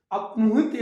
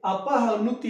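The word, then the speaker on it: अपह्नुति: इसी तरह से अपनुहित अलंकार, अपनुहित अलंकार, तो इसको क्या लिखेंगे, अपहनुति अलंकार, अपहनुति अलंकार।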